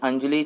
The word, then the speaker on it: अंजलि: तो दूसरे हैं जो मिस अंजलि चिब दुगल। यार, वो फिल्म थी ना धड़कन, सेम उसकी ऐसी प्रोनाउंसिएशन है, अंजलि।